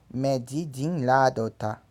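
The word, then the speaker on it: méjìdínláàádọ́ta: Logo, 48 se pronuncia 2 a menos que 50. Ou medidin ladota.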